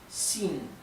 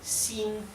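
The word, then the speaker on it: xin: x en el piñin la x se pronuncia como una sh inglesa así pero un poco más tendiendo a una s y en algunas partes de China directamente lo pronuncian como una s más suave sí por ejemplo la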